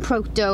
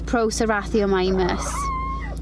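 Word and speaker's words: Procerathomimus: SRA Pro srao mimus I kept saying Proto I'm sorry guys if it's annoying you it's Pro srao myus obviously these Dangs aren't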